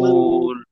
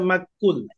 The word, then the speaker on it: مأكول: হবে আইন كعصف عصف عصف كعصف كعصف كعصف مأكول كعصف كعصف مأكول مأكول এখানে গিয়ে যেমন অনেকে বলে মাকুল মাকুল মাকুল না মা م- ধাক্কা হবে হামজার